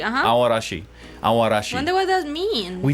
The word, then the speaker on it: Aoarashi: I feel like uh aashi aashi you don't really pronounce a that much it's kind of like almost aash aashi aashi wonder what that means